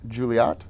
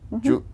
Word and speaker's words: Juliot: Juliot, did I say it? Julia. Oh no, that you don't pronounce the T.